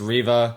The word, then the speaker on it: Reva: Okay, I just spent the past 5 minutes checking if it was Reva or Rava and how you pronounce it. Uh, apparently it's Reva.